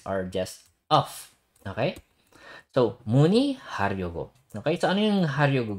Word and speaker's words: 문의하려고: So this one, kung nahihirapan ko yung basahin, isipin nyo na lang pag nasa gitna siya ng dalawang syllable, ang basa dyan ay E.